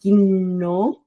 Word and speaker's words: gnomo: Agora, em gnomo a gente tem o G, gnomo. Então você consegue perceber o M, o O, o N e o O e o G separadamente.